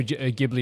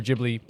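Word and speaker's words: Ghibli: of like um like Studio gibli or jibli whatever way you want to pronounce it and I've always been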